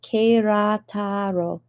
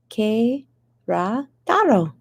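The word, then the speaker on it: Querétaro: but there it is yeah pronounced kerataro que ra taro is that pretty good a little too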